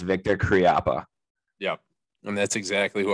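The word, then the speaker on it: Viktor Khryapa: should say it okay that's exactly how it's pronounced victor kriappa yep and that's exactly who i want to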